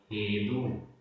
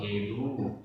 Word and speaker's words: हेदु: आसव हेदु। आसव हेदु, यहाँ दा में बड़े ऊ की मात्रा है तो उच्चारण में थोड़ा लंबा जाएगा।